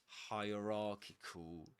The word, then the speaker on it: hierarchical: Hierarchical. Hierarchical. It's pronounced just like hierarchy, but at the end we changed. Instead of saying hierarchy, we say hierarchical.